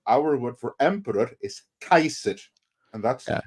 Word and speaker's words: Caesar: yeah those are two those are two different dudes one was Julius Kaiser and the other is some Italian called Caesar yeah so even Bill